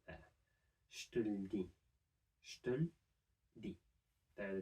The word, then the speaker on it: je te le dis: next to each other, we can still drop two of these e sounds. So we can drop the e in je and the e in le, and say je te le dis.